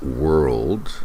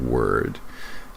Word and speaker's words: world: It's world, not word.